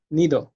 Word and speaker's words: nido: about Spanish is that they don't pronounce de like in English or in Vietnamese, because it's much softer than in English. For example, you say that, it's very hard, but in Spanish you say nido, so it's like, I don't know how to.